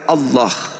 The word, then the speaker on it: Allah: Jadi jadi cara membacanya adalah Allah.